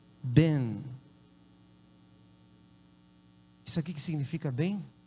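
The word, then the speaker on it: בן: E a segunda letra para filho é nun. E aí não tem vogal, né? Então se pronuncia ben.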